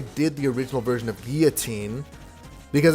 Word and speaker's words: Guillotine: And then I keep saying Guillotine. It's pronounced Guillotine.